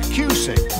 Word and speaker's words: Cusick: That's Cusick. Rhymes with music.